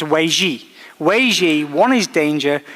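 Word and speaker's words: 危机: It's pronounced Wei Ji.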